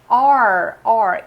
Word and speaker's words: are: O famoso verbo to be aqui, are. E na pronúncia dele, meio que a única coisa que sai é esse R.